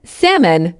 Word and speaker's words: salmon: I was born in February four debt don't pronounce the B gives debt example he is in debt because of student loans five salmon silent L gives CSM bin.